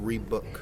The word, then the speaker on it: Reebok: It's pronounced Reebok.